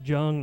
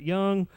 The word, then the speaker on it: Jung: It's Jung, not Young.